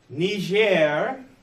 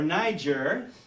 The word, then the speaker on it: Niger: origin of a meme ner or Niger depending on your pronunciation whether it's French or English ner Nigeria Africa is